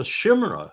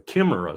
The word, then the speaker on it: chimera: So all of this right now is just a shimra or kimra. Someone told me the other day, chimera, the way you pronounce that word.